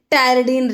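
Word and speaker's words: pteridine: लिए है this is टेररडीन ring. टरडन में देखो ऐसे लिखते हैं इसको पी साइलेंट होता है।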